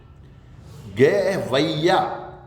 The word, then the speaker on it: गवैया: जैसे मैं एक शब्द का उच्चारण करूं, गवैया, कौवा, कौवा, ये गलत है। गवैया, ऐ की मात्रा, गवैया तथा कौआ, कौवा नहीं कौआ, ये इस तरह से इनका उच्चारण होगा।